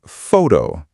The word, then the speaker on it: photo: The word photo, the stress is on the first syllable. Photo, not photo.